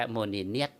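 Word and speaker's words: មុនីនាថ: เรา เรียก เอ่อ เอ่อ พระ ราชินี โมนิส ถ้า เป็น แบบ ออก เสียง แบบ ฝรั่ง นะ ครับ แต่ ถ้า เป็น ภาษา เขม เ้า เรียก ว่า โมนีเนียด อื แปล เป็น ไทย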